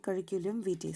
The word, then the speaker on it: curriculum vitae: Okay, pronunciation will be curriculum vitae, CV.